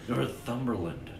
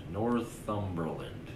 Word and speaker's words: Northumberland: said it right there Worth umberland Northumberland can you say it British Lee oh I will